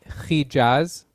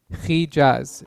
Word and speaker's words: Hijaz: East, we call it Hijaz. Hijaz. It's kind of like, if you would spell that, it would be CHI with like 2 dots. It sounds like an E, J or G with a /AZ.